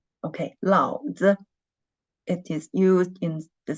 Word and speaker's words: 老子: When we read it 老子, the second syllable, when we read it the neutral tone, it means, it is a slang.